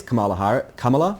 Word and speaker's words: Kamala: of the Vice President of the United States, Kamala Harris? I always mispronounce that name. Kamala.